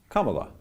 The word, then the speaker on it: Kamala: It's a comma. Kamala.